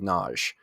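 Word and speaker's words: Nagy: by the name of greg naj and um you spell that n-a-g-y so not exactly intuitive from the enunciation but right um many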